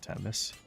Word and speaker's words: Temmie's: I saw some videos on how people pronounce Temmie's as Temmis, which makes sense. But I think it's more fun to say Temis.